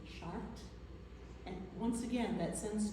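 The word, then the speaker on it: Chartres: this doesn't offend anybody the correct pronunciation is Shar and once again that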